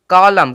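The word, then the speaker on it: column: ठीक है सी ओ एल यू एम एन कॉलम कॉलम कॉलम अब देखेंगे यहां पे एम के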